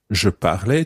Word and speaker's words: parlais: Je parlais, tu parlais, il parlait, elle parlait.